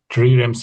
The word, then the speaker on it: trireme: I'm also in the habit of spending my evenings at the shore and triremes hanging in the air.